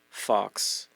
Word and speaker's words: faux: like as being a fox writer is that how you say it f a ux I think it's Fox oh faux writer why has it got an X in there I don't know I